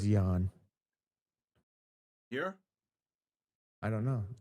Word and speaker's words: Jahn: It's spelt Jahn. So it could be John, but I thought it was Jan. Here? I don't know. Jahn 349.